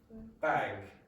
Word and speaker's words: bag: Back bag. Back bag. Now if you listen to the way Charles pronounced that word, he said back. That's not what I did.